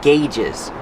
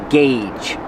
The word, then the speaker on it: gauge: On the instrument panel, you have a lot of different gauges. Pronunciation, gauge. Use the hard g and the long A, like say and pay.